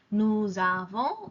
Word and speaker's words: nous avons: Here I'm pronouncing the S because the second word starts with a vowel. Nous avons, vous avez, ils ont, elles ont. The S becomes a Z and it attaches itself to the second word.